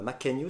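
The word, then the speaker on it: Mackenyu: Roronoa Zoro, notre sabreur préféré, sera joué par Makenyu, c'est ça? On Ma prononce bien.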